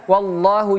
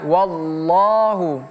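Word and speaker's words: والله: Kalimat Allah harus seperti itu ya. Wallahu. Jangan kita baca wallahu ya. Wallahu tebal di sini. Allah itu huruf tebal.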